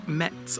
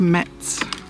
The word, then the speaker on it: Metz: Um so come with us and uh explore Mets along with us. We're probably saying it completely wrong, but that's how it's spelled.